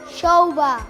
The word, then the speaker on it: xouba: A derradeira, xouba. Xouba. Moi ben. Vedes, se sabedes dicir todas estas palabras en inglés a diario, tamén saberedes pronunciar ben o xe do galego.